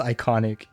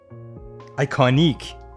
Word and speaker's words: iconique: The emote is called That's Iconic. Yeah, what did Akimeister write? I personally do not care for the hurry command. Iconique, because it's spelled with I-Q-U-E. It's not iconic, it's iconique.